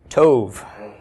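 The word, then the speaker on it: טוֹב: bait with no doggish have we pronounced this the tape makes sound of T right toe Coulomb is long o toe yes toe means good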